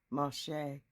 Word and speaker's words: Moshe: And he gave them to Moses, Moshe, as it's correctly pronounced.